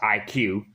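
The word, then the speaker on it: iQOO: Snapdragon 855 the the IQ with two O's being but it's pronounced IQ the O's are solving is just there for styling i guess i was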